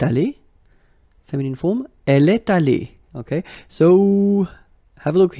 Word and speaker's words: allée: You don't pronounce it, so you get elle est allée, and then for the masculine form, il est allé. So aller is pronounced the same way, but still you have to write it.